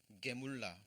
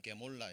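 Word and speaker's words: גמולה: 이 보응이라는 의미가, 자, 히브리어로 게물라 또는 게몰라 이렇게 발음이 됩니다.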